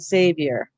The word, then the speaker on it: Xavier: beginning of a word, it can say Z, like xylophone and Xavier. Okay? If you don't have a kid named Xavier in your class and